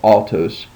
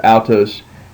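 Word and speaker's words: αὐτός: And then you have the Greek word altos, which I always pronounce it as aw, like altos. But we'll just go ahead and do it as the book says, altos, and that means him or he.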